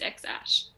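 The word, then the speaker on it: X Æ A-12: X-Ash. What did you say, Mia? No, that's just the kid's name is X-Ash. X-Ash, go, that's the James.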